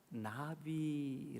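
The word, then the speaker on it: נביא: 이 선지자 라고 하는 히브리 마리 나비 라고 바르면 나비 꿀이 져 날라 다니는 그 나비 나비 라고 발음을 해요 히브리 말로 나 이렇게 발음 하거든요 근데 인 나비 낳으라고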